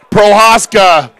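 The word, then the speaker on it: Prochaska: 9 route Jack stewartson Prohaska the C is silent and Hoffman with the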